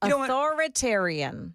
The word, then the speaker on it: authoritarian: No, you you kind of skip over the the I sound in the middle. Authoritarian.